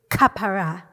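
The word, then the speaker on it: כפרה: a gentle exploitive that he pronounces as aapor in Hebrew it would be kapara the most accurate neutral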